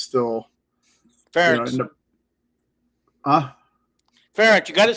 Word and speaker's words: Ferentz: I contacted Iowa University about Coach French, so it's still Ferentz.